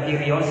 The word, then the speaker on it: Kyrios: Maka kalau mau diberi gambar roti, anggur, ikan, gandum, salib, PX bukan Vespa, Kyrios, P disilang itu bacanya Kyrios itu ya Bapak Ibu.